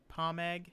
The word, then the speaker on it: Pomeg: yes yes there are pomeg Berry okay Palm egg I guess would be more accurate to the original pronunciation of pomegranate huh another mysterious out